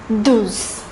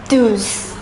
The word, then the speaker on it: douze: The number 12 is pronounced as douze, douze.